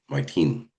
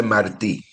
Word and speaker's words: Martí: Jose Mini, did I pronounce that right? Jose Marti Marti.